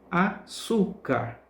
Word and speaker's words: açúcar: é a sílaba tônica exemplo açúcar açúcar percebe que Sul pronunciamos com mais força com mais intensidade álbum ao é a